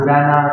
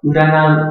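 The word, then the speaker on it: 占う: Thì chữ này có âm cư nhô như là si hoặc là urana tùy từng trường hợp.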